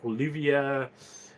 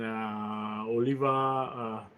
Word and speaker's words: Oliva: pronunciations can be whatever, like Olivia cigars and Oliva. What was very often people mistaking it.